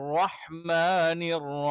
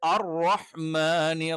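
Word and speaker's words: الرَّحْمٰنِ: അടുത്തത് അർ റഹ്മാനിർ റഹീം. അർ റഹ്മാനി എന്നുള്ളത് പല ആളുകളും റഹ്മാനു എന്ന് പ്രൊനൗൺസ് ചെയ്യാറുണ്ട്. അഥവാ റഹ്മാനി എന്നുള്ളതിന് പകരം റഹ്മാനു എന്ന് ഉച്ചരിക്കാറുണ്ട്. അതും തീർത്തും തെറ്റാണ്.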